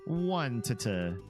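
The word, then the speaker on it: Onett: One to just kidding. It is pronounced Onet.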